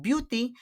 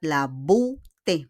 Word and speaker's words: beauté: We pronounce it not beauty, but la beauté.